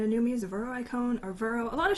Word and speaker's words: Veroicone: that I go into when they say my name wrong um and even in raids people would be like Vero cone or Vero icone like people say the